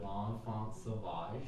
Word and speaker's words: L'Enfant Sauvage: I'm gonna make sure I pronounce this right. Yeah. L'Enfant Sauvage.